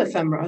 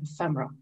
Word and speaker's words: ephemera: Should it be pronounced ephemera or ephemera? Properly the latter, but ephemerists almost always say ephemera.